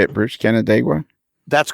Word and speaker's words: Canandaigua: Canandaigua can how do you say it British Canandaigua that's correct yeah John Armstrong was born and